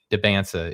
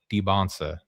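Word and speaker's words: Dybantsa: made it very clear that AJ's name isn't Debansa, it's Debbansa. That's the correct pronunciation is what we're what we're saying.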